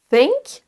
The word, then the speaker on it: think: C'est donc think, avec toujours votre dent qui démarre au niveau de votre langue qui démarre au niveau de vos dents, pardon, et ensuite on souffle de l'air. Think, think. Ça, c'est la bonne prononciation du son TH.